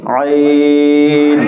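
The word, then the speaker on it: عين: গলার মধ্যখান সামান্য একটু চেপে ধরে বলতে হবে আইন। আইন।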